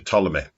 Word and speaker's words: Ptolemy: get to Ptolemy patate the Ptolemy with the silent P it was almost certainly